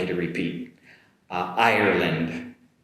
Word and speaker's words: Ireland: My first are two countries that are similar uh in sounds and the first one is going to be uh Ireland, Ireland compared with Iran Iran. Ireland Iran.